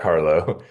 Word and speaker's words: Carlough: football just because like the way I pronounce my name I don't mean to do this but I say it like really fast like Carlo which sounds like Carlo sometimes I need to